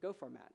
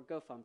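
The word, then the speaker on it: gofmt: for formatting source code go format or go func if you're one of those weird people who pronounces it that way you know like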